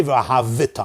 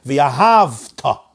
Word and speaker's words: v'ahavta: I'm not supposed to say v'ahavita. I'm supposed to say v'ahavta.